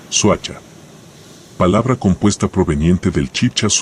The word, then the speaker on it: Soacha: detrás del nombre suacha o como se pronunciaba originalmente suacha palabra compuesta proveniente del